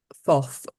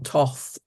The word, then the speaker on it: Thoth: and that is uh someone called thof or Toth or I even um heard it pronounced Tot so you you know take your take your pronunciation I'm going to use th so and also jut